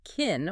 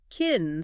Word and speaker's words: can: In a normal flowing conversational sentence, can is usually unstressed. Americans will reduce the vowel so drastically that it almost disappears. It turns the word into a short clipped kin or kin sound like I can go tomorrow.